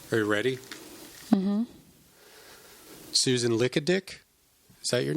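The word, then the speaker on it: Likadik: Like Greek, Lickadick. It's pronounced Lickadick.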